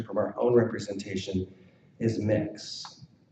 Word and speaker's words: Mx: our own representation is mix is how it is chosen to be pronounced if you just scroll down I'm kind of in the middle there here we go regarding pronunciation so spelled out so you can see the ter term mix MX using U phonetics so moving forward the